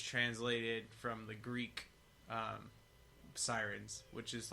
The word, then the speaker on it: Seirines: your band name correctly close it's a Sirens Sirens yeah yeah yeah yeah well